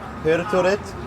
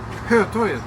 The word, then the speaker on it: Hötorget: Hello, are you going to Hörtåget? Hörtåget? Pendeltåget? Hörtåget? Hörtåget? In the city? Sergels torg. Hörtåget? Hötorget. Oh yes, Hötorget. Yes. Hörtåget. My pronunciation was wrong.